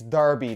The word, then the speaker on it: Derby: 19 plus worn by derby it's darby not Derby County FC player the